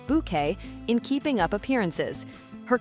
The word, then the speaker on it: Bucket: Routoutlage was best known for playing Hyasin Bucket pronounced Bouquet in Keeping Up Appearances.